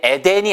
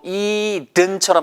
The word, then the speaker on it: Eden: 그러니까 이게 에덴이 아니고 Eden처럼 발음하시면 돼요.